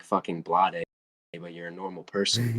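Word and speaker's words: Bladee: Blade or Blade? I don't know. It's Blade. It's just That's pronounced fucking Blade. retarded. Why does it have two E's then?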